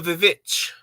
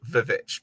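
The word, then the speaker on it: VVitch: And yes, I will always pronounce it as Vivitch, because if you're going to do a stylized spelling and there's a way to mispronounce it, looking at you, Fant4stick.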